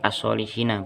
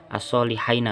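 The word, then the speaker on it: الصالحين: sudah dananya ada harkatnya Jadi asolihina bukan AS asolihain bukan asolihinaah kalau misalnya ini juga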